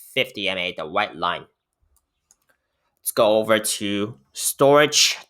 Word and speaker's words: Storj: let's go over to storage token which is spelled at store j okay um let's see